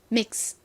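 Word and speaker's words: mix: 소리를 넣어 주시면 돼요 하지만 발음 하실 때 믹스 이렇게 스를 세게 하시면 안 되고요 약하게 발음을 해 주셔야 됩니다 바람 빠지듯이 스 이렇게요 따라해 보세요 믹스 믹스 믹스 믹스 좋습니다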